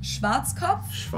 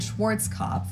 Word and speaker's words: Schwarzkopf: In German, like we pronounce it Schwarzkopf, which literally means black head. Schwarzkopf. English native speakers usually pronounce it Schwarzkopf or Schwarzkopf or something along those lines.